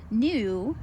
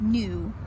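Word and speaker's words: gnu: This one's pronounced new, even though it has a G there. The G plays this funny silent game, and it's just new, N-U, like N-E-W.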